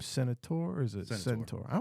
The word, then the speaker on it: Seneatore: one and only um is you pronounced your last name Senator or is it Senor I was I KN